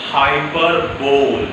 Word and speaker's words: hyperbole: The second one is hyperbole. What is pronounced?